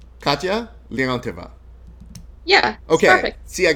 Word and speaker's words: Katya Leontyeva: right, because I know I'm used to people mispronouncing my name all the time. It's like Katya Leontyeva. Katya Leontyeva.